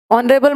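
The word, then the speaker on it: honourable: ऑनरेबल में भी H silent.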